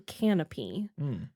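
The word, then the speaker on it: Kanopy: you're searching for that it's spelled k a n o p y yeah so if you're looking for canopy that's what it is uh you can also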